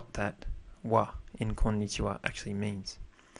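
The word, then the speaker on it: は: Why would something be typed as ha, pronounced as wa, and it's a particle?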